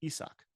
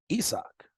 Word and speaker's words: Isaac: co-main he sock crews he's corrected everybody his name is isak isak yes that's how you pronounce